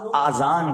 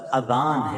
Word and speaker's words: اذان: نیکیاں کما سکتے ہیں۔ بعض لوگ آذان کہتے ہیں، یاد رہے پہلے اذان کہتے کس طرح ہے، اس کا تلفظ سے بچ لیں۔ آذان اذن کی جمع ہے، اذن کہتے کان کو، یہ آذان نہیں ہے، یہ لفظ اذان ہے، ٹھیک ہے۔ اور اذان